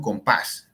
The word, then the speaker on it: compás: Lo mismo con compás, termina en S, y la fuerza está en esa última sílaba, compás.